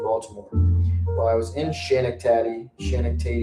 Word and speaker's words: Schenectady: It's pronounced Schenectady, with the emphasis on the first syllable.